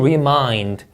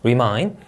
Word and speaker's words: remind: 자, 그리고 remind 이 음절 강세가 되겠고요. 자, R 발음 유의하셔야겠죠? R로 시작한 단어는 혀가 어디에도 닿으면 안 됩니다. remind, exceptional 이 음절 강세, knowledgeable 이 음절 강세, assistance.